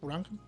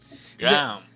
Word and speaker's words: Graham: No sé cómo se pronuncia. Si me puedes ayudar, algo así. Granham. Graham. Ajá, ándale.